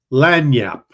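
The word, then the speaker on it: lagniappe: of that one I can't remember how to pronounce it that is lanap it is a small gift or something extra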